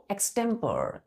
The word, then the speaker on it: extempore: हमने बोला, कभी कभी बोलते हैं बच्चों एक्सटेम्पर, क्या बोलेंगे बच्चों, 5वां वर्ड है एक्सटेम्पर, EXTEMPORE, एक्सटेम्पर, क्या बोलते हैं, एक्सटेम्पर।